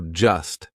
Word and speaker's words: just: Instead of saying I'm just saying maybe you should ask for help, we drop that T. We do not pronounce it. So just sounds like just, right?